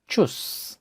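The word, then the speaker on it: tschüss: এখানে টে এস সেহা থাকার কারণে চয়ের হালকা উচ্চারণ হয়েছে ডয়েচ, যার অর্থ জার্মান, জার্মান। এরপর উদাহরণ হিসেবে আমরা নিতে পারি চুস, চুস, যার অর্থ বাই বা বিদায়ী সংবর্ধনা, ডয়েচ, চুস।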